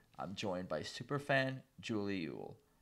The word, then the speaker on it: Eull: joined by superfan julie ewell technically pronounced isle but yule or isle seems to be acceptable even within her own family anyway minnesota's own julie